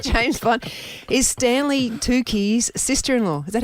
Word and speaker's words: Tucci: Is Stanley Tucci's sister-in-law.